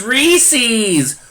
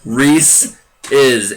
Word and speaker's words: Reese's: And I know all you out there say it's Reese's. No, it sure as hell ain't. Reese's. Look where the apostrophe is. It's possessive. Reese is.